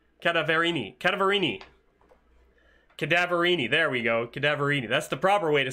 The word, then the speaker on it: Cadaverini: Cadaverini.